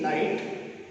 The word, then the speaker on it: knight: Told by a knight, N-I-G-H-T, night, and K-N-I-G-H-T, night.